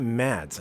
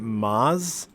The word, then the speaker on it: Mads: It's not Mads. I thought it was Mads. I'm just realizing now. I think you pronounce it Maz.